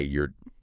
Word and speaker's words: you're: You're you're learning English. Careful. Sounds like y o r. But spelling is y o u r e.